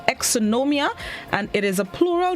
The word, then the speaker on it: exonumia: of the day it's spelled e-x-o-n-u-m-i-a and it's pronounced exonomia and it is a plural known which means